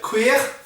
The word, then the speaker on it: cuir: I believe quas the word queer which sounds very like the word queer in English nothing to do with uh no relationship between the two words but qu spelled c